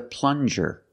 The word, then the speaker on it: plunger: very good this is a plunger plung use the regular n and the JJ sound like juice plun this is a